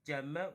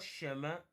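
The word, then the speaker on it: 怎么: This is the complete one is Jemayang, but this is Jema, which means how. Not Shema. Please be careful.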